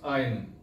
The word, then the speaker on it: iron: is breakfast not breakfast breakfast is foreign actual pronunciation is education next is iron I R1 it is not iron it is iron last one is sour it is R not